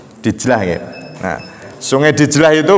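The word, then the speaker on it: دجلة: kan ada sungai besar sungai dijlah atau dajlah bacanya dijlah ng nah sungai dijlah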